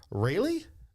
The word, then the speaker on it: Raeleigh: We're with Preslie and Raeleigh, right?